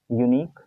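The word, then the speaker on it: unique: से यही वही बात, यूनिक में यू है, वैसे इंग्लिश के हिसाब से तो वॉवेल है, लेकिन हिंदी में जब हम इसका प्रोनाउंस करते हैं, साउंड निकालते हैं, तो वो य का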